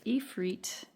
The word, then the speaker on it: Ifrit: Ifrit power. I'm going to look up that pronunciation real quick. Okay, Ifrit, I said it right, I was right, is an Arabic demon.